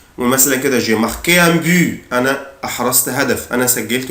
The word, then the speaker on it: but: ان بوت ان بوت بوت هدف او جول. ممكن منطقش لا لتر تي حرف التي ممكن منطقوش، اقولها ان بو ان بو ان بو او بوت.